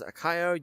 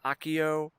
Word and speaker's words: Akio: Um, so you can pronounce it as Akayo. You can say I have heard I personally pronounce it as Akayo. Akayo. But you can also pronounce it as Akio, like the spell from Harry Potter, if you really want to.